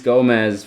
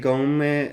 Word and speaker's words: Gomes: I mean, this Denise Gomez, I think it's Gomes they say, either Gomes or Gomes.